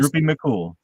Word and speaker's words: Droopy McCool: Is the Yep, right Droopy pronunciation? Droopy McCool.